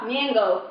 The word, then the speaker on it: Nyong'o: Nyong'o. That's how you say it.